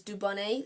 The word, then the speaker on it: Dubonnet: And it's called Dubonnet, but it's spelt Dubonnet. So it's like said Dubonnet, but because it's French, it's Dubonnet.